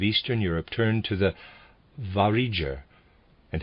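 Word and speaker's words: Vareger: europe turned to the variger and how in the east of the northern peninsula the trend is more toward the east readers aside i'm pronouncing this variger it's spelled v-a-r-e-g-e-r end of readers aside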